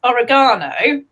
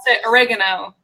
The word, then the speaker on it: oregano: talking about herb so who we pronounce this Oregon Oh but Alex language Oregon Oh so yeah we oregano which is just so different it's funny you know